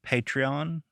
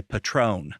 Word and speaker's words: Patreon: Patreon. Patreon. Patreon. Yes. So, being from Arkansas, I want to say Patron. Patron. Which is not what that is.